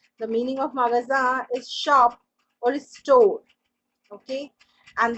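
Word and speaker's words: chat: okay dirty next is sha yes this is my favorite word first of all the t of this word is silent okay this is called sha and the meaning of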